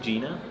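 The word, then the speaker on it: Jena: I think Gina.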